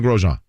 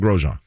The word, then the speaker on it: Grosjean: totally but if but i asked him once i'm like how do you introduce your name like if you say your name how do you say it he's like roman grosjean i mean the inn kind of subtly comes in but it's real mag grosjean okay jake he's the